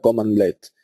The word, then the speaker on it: cmdlets: Esta abreviatura que aparece aquí, cmdlets, es lo que os encontraréis normalmente y nada, se pronuncia commandlets.